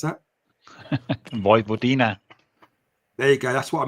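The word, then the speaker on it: Vojvodina: Jesper, what's the name that how you pronounce that? Vivodina.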